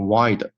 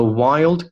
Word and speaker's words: wild: 我们把这道题来分开看一看。第一部分，in the photo。OK，非常简单。In the photo，停顿。The wild 这个单词呢是 wild，这个有个 l，很多同学这个单词会读成 wide，你看 wild。OK，the wild cats，注意这个 s。The wild cats huge paws，这个呢就是音标里面的